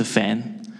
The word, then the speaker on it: Fan: Yeah, my name's pronunciation actually very easy, just. My surname is Fan.